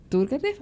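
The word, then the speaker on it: Turguénev: En el caso de Rusia, que es la otra frontera, y a través de la vida de Turkenf, así es que se pronuncia, es que entendemos cómo este autor, pero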